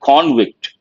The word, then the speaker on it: convict: Convict as a verb, same word, when it is a noun, you have to say convict. He is a convict. He has been convicted.